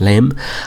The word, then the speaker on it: LEM: the lunar excursion module our LEM which was later simply called the lunar module but was still pronounced lame was designed and built